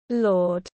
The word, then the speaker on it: Lorde: 7th of November 1996 known professionally as Lord pronounced Lord is a New Zealand singer